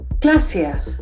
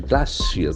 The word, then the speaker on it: glacier: c i e l is a beautiful word glassier it's a pronunciation glassier large mass of f glassier the sound is